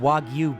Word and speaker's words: wagyu: brags to me that he's purchased himself some wagyu beef great first of all and neither of us that being you the listener and me should be surprised by this he mispronounced it it's called wagyu beef wagyu w-a-g-y-u wagyu beef is a breed